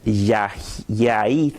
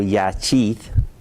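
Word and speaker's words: יחיד: La primera palabra es Yahid o Yachid, depende de la pronunciación, o la palabra Ead o Echad.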